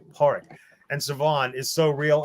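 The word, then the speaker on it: Pádraic: name again Park okay so it's not like Patrick okay horic and Siobhan is so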